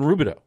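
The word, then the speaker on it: Rubidoux: east of Riverside and it's not spelled how it's pronounced no it ends with an X sounds French yeah yeah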